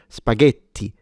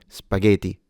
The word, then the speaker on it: spaghetti: Remember, if you do want to sound Italian, then the T needs to be fully pronounced and you need a stronger or more technically a longer sound because you have two T's. So, spaghetti rather than spaghetti.